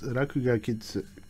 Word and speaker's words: Rakuga Kids: So anyways, that's where the game Rakuga Kids comes from, because all of you have been mispronouncing it. It's Rakuga Kids, which is pretty funny because Rakugaki is well, Rakugaki is scribbling, like literally child scribbling.